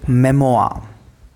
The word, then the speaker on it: memoir: in discipline uncie asian we don't pronounce this are when it comes at the end so travel memoir and literary criticism so